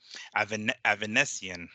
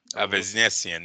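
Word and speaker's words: Avanesyan: I actually wrote it out here to make sure that I pronounced it right. Avanesian. Avanesian, yeah. Avanesian.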